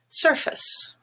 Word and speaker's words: surface: are some other examples face is gray but in the word surface the stress is on er purple and face becomes surface stance is another black